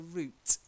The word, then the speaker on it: route: Church that's it then not route the route exactly like roots roots the way okay the